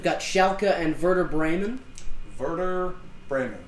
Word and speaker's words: Werder: Schalke and Werder Bremen Werder Bremen W is a V certification print pronunciation and